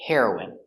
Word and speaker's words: heroine: Next we have heroin. The pronunciation is the same. The drug heroin and the person heroin. Hero is for a boy, and for a girl we say heroine.